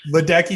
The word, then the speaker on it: Ledecky: hard to rhyme with ledecky rhymes with becky rhymes with sticky